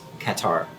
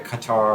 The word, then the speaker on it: catarrh: Another one, which I may not pronounce correctly, is catarrh.